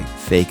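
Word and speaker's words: Faik: and by the way fake is spelled f a i k so it's at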